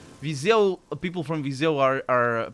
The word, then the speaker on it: Viseu: Viseu, people from Viseu, that's how it's pronounced, Viseu. And I'm pronouncing it. I'm noticing my accent just then. I say it like that, Viseu, but that's my accent right there. That's not how it's said in the center of Portugal.